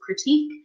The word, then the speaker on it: critique: ever received a negative critique was it was it nerve-racking so critique is a French word that we use in English so it is pronounced in the French way it would Beyonce -